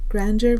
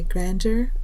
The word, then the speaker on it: grandeur: this is Section 8, Grandeur versus Grandiosity. Point of pronunciation, you might say grandeur or you might say grandeur. They're both right.